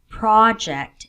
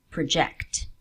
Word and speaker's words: project: Usually, not always, in 2-syllable words, nouns will carry the stress on the first syllable, while verbs on the second.